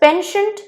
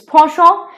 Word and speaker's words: penchant: Coming to the next word, this is in English pronounced as penchant, but in French it's a French word, it's penchant, and it means fondness or liking, okay, or preference.